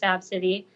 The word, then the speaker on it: Abcde: Pronounced Absidy.